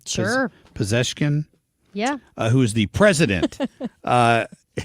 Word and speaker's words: Pezeshkian: I'm not quite sure why he didn't have the Ayatollah Khomeini on there, but that was Masoud Pezeshkian. Am I pronouncing that right? Sure. Pezeshkian?